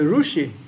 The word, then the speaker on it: Rishi: a modern rousi prad what is a rushi what is that rushi Dr P rushi oh Rishi yes Dr P you call it Rishi and we call it rushi that is the difference in pronunciation PR just like the